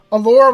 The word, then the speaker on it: Alora: Alora rhymes with aura, so I mean, it makes sense.